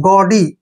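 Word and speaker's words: gaudy: ए यू डी वाई जी ए यू का उरण ग लिखते हैं ग ऐसे ग और डी वाई को डी पढ़ेंगे गडी गडी गडी क्या होता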